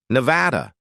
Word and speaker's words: Nevada: "No, and I use the English pronunciation, Nevada.